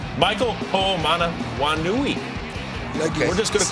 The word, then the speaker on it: Ho'omanawanui: Inactive, so it's Michael Ho'omanawanui. Okay. We're just going to call him Mike the rest of the highlight. There's Mike. Run, Mike. Yeah, that's seven That's 7 syllables if you're scoring at home, by the way.